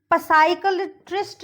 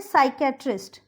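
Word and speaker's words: psychiatrist: साइकियाट्रिस्ट नहीं बोलेंगे इसको, इसको हम बोलेंगे साइकियाट्रिस्ट. ये हो गया P साइलेंट.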